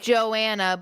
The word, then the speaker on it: Johanna: I was pronounced like, Joanna, but it's spelled Johanna.